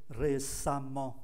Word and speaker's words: récemment: phần cuối thành "-emment," phát âm giống như "amment," coi chữ 'a' ở đây là 'a-ment.'